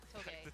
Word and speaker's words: Toge: 2GE or Toge, I think we had a chat last year, and he was like, I'm going to go back to pronouncing it how it was meant to be pronounced. Toge.